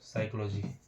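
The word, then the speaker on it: psychology: silent होता है एक और देखते हैं दोस्तों साइकोलॉजी साइकोलॉजी का अगर स्पेलिंग आप देखेंगे तो यहां पे पी एस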